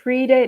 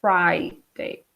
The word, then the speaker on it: Friday: job looser so Friday sometimes I hear students say pre-date not correct Fri date ok Friday Saturday Sunday